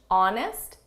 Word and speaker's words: honest: This is someone who's honest, Silent H honest and fair.